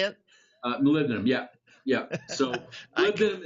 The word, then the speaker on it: molybdenum: it's again is that how you say it molybdenum yeah yeah so I think is a hardening